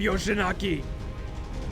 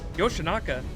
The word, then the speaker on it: Yoshinaka: it lord yoshinaki lord yoshinaki yeah yoshinaka i i said it wrong my bad did i